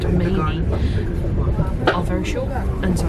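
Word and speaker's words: Manea: Just had a very quick announcement that the platforms at the station I now know is pronounced Mainy are very short, and so I've had to move back down the train 2 coaches, or else I would be stuck.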